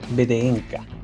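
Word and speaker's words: VDNKh: Debido a que su verdadera madre murió a comienzo del inicio de los bombardeos en Moscú, Arion vive en la estación BDNKH. que se pronuncia Benca, pero me voy a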